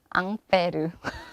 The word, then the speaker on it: Ampère: 이 암페어 의 원래 이름 은 암페르 (Ampère) 입니다 . 앙페르는 프랑스 인 이었습니다 .